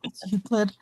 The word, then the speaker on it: Euclid: It's Euclid. I don't know Before- how to pronounce it.